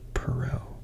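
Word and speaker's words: Perrault: coming hey Peru so this is a French name it I think it's pronounced Perot so I'm gonna go with pero I hope I'm not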